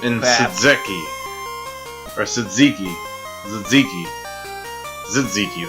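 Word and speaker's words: tzatziki: Zitziki, that's how you say it.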